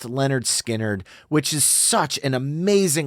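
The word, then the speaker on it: Lynyrd Skynyrd: it from their incredible 1973 debut studio album pronounced Leonard skinnard which is such an amazing listen between give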